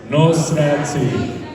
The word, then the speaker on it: Nosati: Uh, can you guys try and pronounce my last name with me? I typically perform in front of a bunch of uh, white people so they struggle with it. So, noi. Let's give it a go. It's Noati.